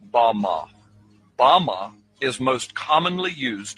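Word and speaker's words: בָּמָה: which Satan fell is Strong's Hebrew word 116 pronounced Bama Bama is most commonly used to refer to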